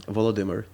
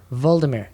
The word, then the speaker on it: Volodymyr: How do you pronounce it again? Volodymyr. Voldemort, not Yeah.